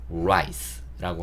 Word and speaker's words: rice: 그리고 R로 시작하기 때문에 단어가 라보다는 라라고 제가 적어놨고요. rice라고 하시면 R 발음을 정확하게 구사하시는 게 됩니다.